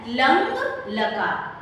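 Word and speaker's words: लङ् लकार: इसको हम बोलते हैं लंग, लंग लकार। इसका सही उच्चारण है लंग लकार।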